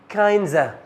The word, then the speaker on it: kinds of: لا، kinds of بعد الريدكشن هتتحول تبقى kinds.